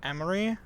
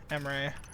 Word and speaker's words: Emre: I always said I feel like if I were to choose, I'd pick Emery. It's spelled E-M-R-E, Emery.